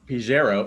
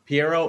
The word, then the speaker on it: Pjero: So today we have Pjero. Is that how you say your name? Pjero? Pjero, silent Pjero. J. The J is silent, so I apologize for that. Pjero It's cool.